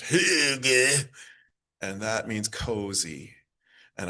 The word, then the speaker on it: hygge: It's pronounced hygge, and that means cozy.